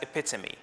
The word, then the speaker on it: epitome: correct pronunciation of words so epitome that ends with an e is pronounced as epitome epitome is usually used in